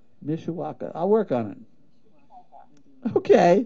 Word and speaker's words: Mishawaka: Misha okay we to practice that one Misha Mishawaka okays you say it just like does but you got so many letters in there it looks weird people usually can't pronounce it right Mishiwaka I'll work on it okay I oh lordy